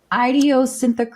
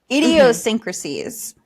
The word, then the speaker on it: idiosyncrasies: Idiosynthecrasis?